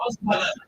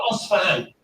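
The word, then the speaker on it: Isfahan: He goes to Asbahan, or Asfahan. This city exists till this day. Where is it? It's in Iran. And Asfahan, or Asbahan, both ways of pronunciation, has today the largest Jewish community outside Palestine.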